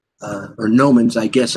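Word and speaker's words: gnomon: those are the the Gans uh or gomans I guess I don't think you pronounced the G I think it's correct uh this small hole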